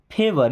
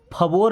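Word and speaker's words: favour: Means होता है एक, फेवर, इसको फवोर नहीं पढ़ते, क्या पढ़ते हैं, फेवर, फेवर का मतलब होता है कोई एहसान, ओके।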